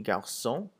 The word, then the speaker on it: garçons: So if you look at the example of le garçon and les garçons, garçon without an S and garçon with an S sounds exactly the same.